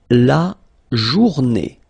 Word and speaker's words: journée: Then, la journée, final E, not pronounced, and it's day.